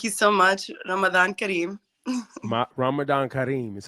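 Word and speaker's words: Ramadan Kareem: happy Ramadan thank you so much Ramadan Karim Ramadan Karim is how you say it well thank you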